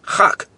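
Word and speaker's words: חק: And that word law is chak. Okay? Chak. That's how you pronounce it in the Hebrew.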